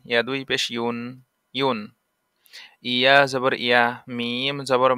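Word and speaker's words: ي: ইয়া জিহ্বার মাঝ হতে নরমভাবে আদায় হবে।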